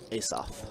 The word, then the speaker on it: Asaph: All right, sevens with a deuce to pair for, how do you pronounce his name? Is it Asaph? Ace-off. Asaph.